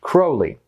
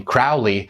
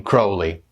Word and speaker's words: Crowley: it actually is pronounced Crowley you can remember it by this little rhyme those who treat me fouly call me Crowley those who know I'm holy call me Crowley so sorry to Ozzy